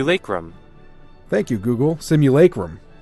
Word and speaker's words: simulacrum: on Thank You Google simulacrum is how Google pronounced it there we go CMU Laker room all right simu alaikum according to go there we go good Google's the authority I would not have